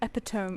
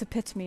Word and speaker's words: epitome: I don't know how to pronounce Oh, I almost heard epiome. It's epitome, isn't it?